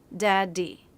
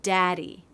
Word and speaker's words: daddy: there isn't a stop if I pronounced both DS with a stop it would sound like this daddy daddy but it doesn't it sounds like daddy ah no stop in the airflow this is true of the